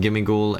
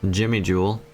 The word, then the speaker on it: Gimmighoul: of course I need gimmig goul and oh sorry sorry uh let me pronounce it correctly Jimmy Jewel and gold Dingo and